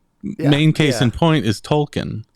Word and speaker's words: Tolkien: case in point is Tolkien I always have said Tolkien and of course it's supposed to be Tolkien or something and they emphasize the eating yeah um yeah but